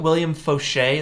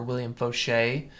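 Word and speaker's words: William Faucher: I recommend so you if you look at William Foshay that's William it's pronounced or it's spelled like foucher f-a-u-c-h-e-r uh you check him out he has incredible tutorials William foucher or William Foshay um Winbush also has a lot of good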